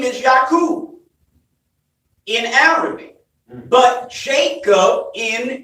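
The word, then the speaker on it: Yaqub: right but in Arabic you pronounce their name yaku are you with me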